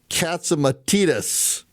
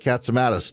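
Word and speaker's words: Catsimatidis: worked there for so long he's correcting my pronunciation. So it's Curtis Slaywa and it's John Katsumatitus. I've always called it Catsamatus.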